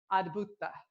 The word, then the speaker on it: Adbhuta: Adbhuta, and it's spelled A-D, like ad, like advertising, and then Bhuta, B-H-U-T-A, and it means wonder, and it's connected to the element of air, right?